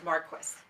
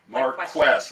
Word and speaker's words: Marques: It's Marques. Marques, like question. Like question. with an I and That's right. Marques. Correct. There we go. Marques, hopefully at the next time I'll get it right.